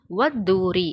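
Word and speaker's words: وَالطُّورِ: வாவுக்கும் துவாவுக்கும் நடுவில் அலிஃப்லாமோட எழுத்து இருக்குது. ஆனால் அந்த அலிஃப்லாமை வெளிப்படையாக உச்சரிக்கக்கூடாது. அதுதான் இதோட சட்டம். அந்த அலிஃப்லாமை மறைச்சி துவாவோட இணைத்து ஓதிடணும். வத்தூரி அப்படின்னு ஓதணும்.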